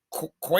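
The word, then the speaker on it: Queta: It should be Yeah, it looks like that should be Kita.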